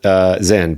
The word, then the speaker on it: XYN: It is pronounced Zyn, but it's spelled XYN.